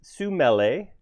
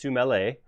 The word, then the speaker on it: Sumele: So in case you guys haven't met, this is Sumele. That is the proper pronunciation of a word. In case you get hung up on the component name, it is Sumele.